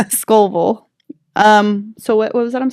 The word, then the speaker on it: Scovel: The book is called The Game of Life and How to Play It by Florence Volkovich.